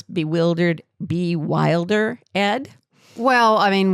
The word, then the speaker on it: Bewildered: That would be weird if we were like, I have a podcast that's called Bewildered, Ed, but you have to pronounce the Ed.